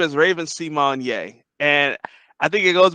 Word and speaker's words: Symoné: this article from People magazine Raven Simone reveals fans have been mispronouncing her name her name is not Raven Simone simonyea it's Raven Symone and I guess she